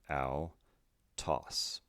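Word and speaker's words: αὐτός: so this means that the second syllable will be emphasized when we pronounce the word lastly we have sigma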